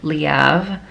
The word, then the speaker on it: Leav: town Girls by Lang leav that is how you pronounce her last name okay I know it sounds like it could be leave but it's leav she has said it